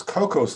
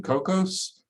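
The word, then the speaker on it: Kokkos: motivation to write those compilers so instead this cocos library has emerged it's spelled k-o-k-k-o-s it's simply a c-plus plus library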